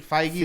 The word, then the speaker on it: Feige: So now I did see earlier, Kevin Feige, is that how you pronounce Kevin it? Feige. Feige, there you go.